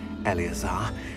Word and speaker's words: Eleazar: That's how you pronounce it, Eleazar.